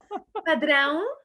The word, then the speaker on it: Padrão: How to pronounce that? Padrão.